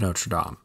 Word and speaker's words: Notre Dame: here and correct you you're saying it wrong it's the hunchback of notre dame sorry i put i